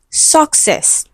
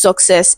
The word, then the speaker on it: success: Okay, and it is stressed on the second syllable.